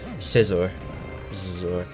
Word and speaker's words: Scizor: Scizor. Just sounds like the word scissor.